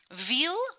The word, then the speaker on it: Ville: Ville rhymes with eel, the long wiggly fish.